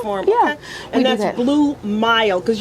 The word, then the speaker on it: Blue Mile: And that's Blue Mile, because we don't be pronouncing words in our community, but it's Blue Mile with the M-I-L-E.